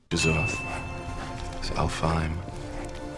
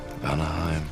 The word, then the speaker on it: Alfheim: Alfheim. Anaheim.